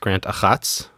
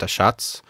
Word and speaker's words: Achatz: And I had to think of Grant, I think it's pronounced Grant Achatz or Grant Achatz.